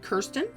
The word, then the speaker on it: Kirsten: I do have some friends that pronounce it Kirsten. That's fine. It's always been Kirsten around here.